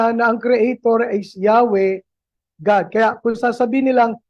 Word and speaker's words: Yahweh: At uulitin ko po yung Yahwe na yon ang tama pong bigkas sa YHWH. Ayon sa mga Bible scholar ay Yahwe hindi po Jehova na naimbento noong 1500s